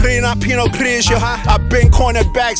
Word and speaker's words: Pinot Gris: Paired with the finest French blends of Pinot Gris. It's Pinot Gris, you don't pronounce the S.